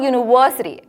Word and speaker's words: university: not a wild sound this word University starts with a vowel letter but that is not the sound that it makes therefore it's important for